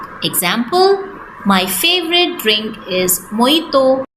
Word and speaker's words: mojito: It's not mojito, it's mojito. Example, my favorite drink is mojito.